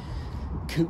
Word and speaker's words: Couch: pronounced Boyce just like Co street is spelled like couch but it ain't a couch um and I might